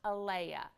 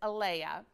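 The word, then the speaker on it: Alaea: is the red sea salt and it's actually pronounced alaya it's al EI e no AE a a l AE a but it's Alea and we have two different sizes one is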